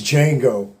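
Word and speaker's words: Django: right now it's D Jango the D is silent anyway my friend Dar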